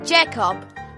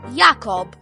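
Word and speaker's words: Jakob: in German as simply Jacob, when in German it's meant to be pronounced Yakob.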